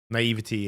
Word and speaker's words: naivety: Naivety is the way we pronounce it in the UK.